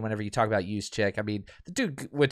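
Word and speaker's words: Juszczyk: right or midwest people use check um so it's a soft j yogin i believe is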